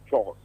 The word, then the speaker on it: chores: So I think it is pronounced chores, not choice.